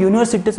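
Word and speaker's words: university: तर येथे जरी स्पेलिंग तुम्हाला असं वाटत असलं, जरी यूने सुरुवात असली, तो यू हा असा आहे लक्षात घ्या, आणि त्याची सुरुवात ही वायने आहे, म्हणूनच त्याला तुम्ही ॲन युनिव्हर्सिटी बोलू शकत नाही, देर इज अ युनिव्हर्सिटी बोलू शकता.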